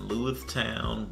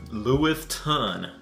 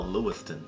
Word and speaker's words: Lewiston: in a distillery in lewistown maine and i may have pronounced that wrong but let me just check my trusty telephone and see yep lewistown lewiston maine oh lewiston mm-hmm okay white rock